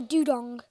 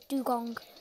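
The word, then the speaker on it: Dewgong: bus and it's a doodong I caught the dwank but I'm just gonna pronounce it right because it's dugong but I'm actually enjoying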